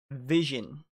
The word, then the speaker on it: VXON: guys names are the the band's name is pronounced vision if i'm not mistaken okay so so far